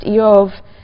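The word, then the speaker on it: איוב: The name Job, which in Hebrew is pronounced Eov, is sort of bivalent in meaning.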